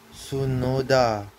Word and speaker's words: Tsunoda: Okay, his other part of his name is spelled Tsunoda, but I think the T is silent.